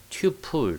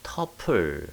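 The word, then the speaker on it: tuple: 튜플 또는 터플 뭐 이렇게 발음합니다. 사실 뭐 미국 사람들은 터플 이렇게 발음하는 경향이 더 많아요. 터플이든 튜플이든 이제 같습니다.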